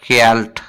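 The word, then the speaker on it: geld: spelling है गेट्ट लेकिन pronunciation होता है कैल्ट कैल्ट इस तरह कहते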